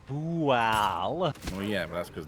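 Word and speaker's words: Bhaal: The main thing is we're currently fighting Ball and his followers. Oh, I see. No, we're not fighting Ball. We're fighting Bual.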